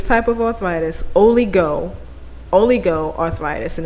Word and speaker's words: oligoarthritis: this arthritis this type of arthritis only go oligo arthritis and it's spelled just the way i say it o